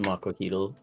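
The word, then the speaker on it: macuahuitl: I'm pretty sure it's pronounced Makohito, by the way.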